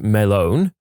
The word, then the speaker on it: Melon: Named him Walter Melon, pronounced Melone, snuck the watermelon into the bar and generally just passed it around and praised him for being a good melon.